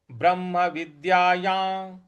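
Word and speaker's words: ब्रह्मविद्यायां: विद्याया ब्रह्म विद्याया य पर जो अनुस्वार है उसके आगे य लिखा हुआ है योग का य है इस वजह से इसको या इस प्रकार से हम इसका उच्चारण ले आएंगे ब्रह्म विद्याया योग शास्त्री ब्रह्म विद्याया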